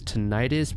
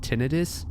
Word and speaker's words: tinnitus: The word you're going to hear me pronounce is tinnitus, but it's actually pronounced tinnitus, so please don't crucify me in the comments.